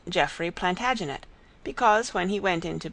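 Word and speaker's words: Plantagenet: The Latin name for broom is plant janista and gradually it came to be pronounced plantaginet.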